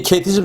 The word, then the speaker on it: KT-SSM: 이제 줄여서 KT즘이라고 읽는데, 이 KT즘 자체가 지난 이명박 정부